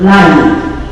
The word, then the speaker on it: live: part of the world live. Pronounced rhyming with hive, from the comfort of our homes.